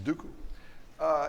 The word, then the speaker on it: Sudoku: before we're done yeah what'swhat's graph colouring Oh Sudoku Sudoku it's pronounced Sudoku is that a graph coloring problem well generalized